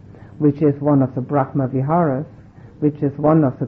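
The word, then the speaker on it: brahmavihāra: I don't know if this is my hearing or not, but is there Brahma Bihar and Brahma Bihar?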